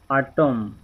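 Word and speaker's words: autumn: Letter N, अगरि एम खां पोइ एन हुजे त एन ख़ामोश थी वेंदो। डैम, अटम, कॉलम, हिते ना, हिते एन जेको आहे इहो हिते कोन पढ़णो आहे।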